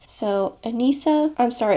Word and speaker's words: Anissa: Her name is pronounced Anissa, by the way.